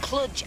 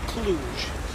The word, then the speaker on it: Cluj: further I we're left clutch ours a girl actually pronounced Cluj I mean you want